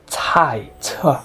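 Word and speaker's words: 菜: Instead, it is pronounced as cai, cai, means vegetable, very important word.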